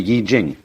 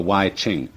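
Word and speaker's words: I Ching: book of changes called the Y Jing not the Y Ching I'm afraid that the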